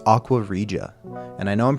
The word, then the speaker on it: Aqua Regia: It's Aquaria. And I know I'm pronouncing that right now because I talked to a couple friends and they're like, "It's actually pronounced like this."